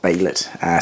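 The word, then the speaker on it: Behelit: If I did get it wrong, I do apologise, but I'm pretty sure everyone said it's pronounced Baylet.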